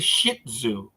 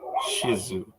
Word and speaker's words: Shih Tzu: making all that noise it's a shih tzu I'm sorry I think it's pronounced Shizu yeah I'm sorry yes